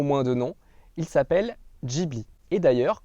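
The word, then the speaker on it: Ghibli: de nom il s'appelle jibi et d'ailleurs concernant la prononciation sachez que ce mot n'a rien de japonais il est en fait italien il signifie vent chaud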